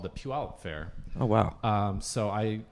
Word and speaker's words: Puyallup: So you're initially from, I don't even know how to pronounce this, Puyallup, Washington? So. Puyallup? Puyallup. Puyallup.